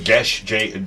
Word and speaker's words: Geas: Gesh with no H. This is a different language. It's Irish.